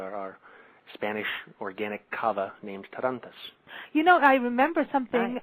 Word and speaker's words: Tarantas: Because, you know, I am blonde here, but is it Tarantas? Tarantas? You're doing great. Tarantas.